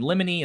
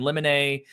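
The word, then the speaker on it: limine: file a motion and lemony and lemonae the mini i don't care how to pronounce it that's the spelling is l-i-m-i-n-e everybody pronounces it differently it's a simple motion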